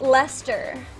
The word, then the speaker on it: Leicester: It's pronounced Leicester. Yeah, I knew that too. Which, Stark's gonna tell me that. to be fair, that's an awful lot of letters, Stark, to say Leicester.